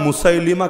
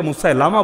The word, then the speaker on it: মুসাইলিমা: এরকম আস আরেকজনের নাম মুসাইলিমা কাব বাংলায় অনেকে মুসালামা বলে ভুল উচ্চারণ মুসাইলিমা কাজ্জাব কয়জন?